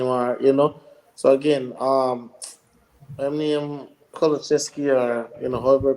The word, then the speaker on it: Kulusevski: or added time or So again, I mean Koloczewski or however you pronounce his name, him. Kulusevski.